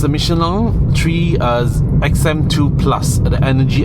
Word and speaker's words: Michelin: Michelins and it's a Michelin tree XM2 plus and energy XM2 plus eco tire range. It is also known that Michelin or Michelin, that's the pronunciation in French, does not produce the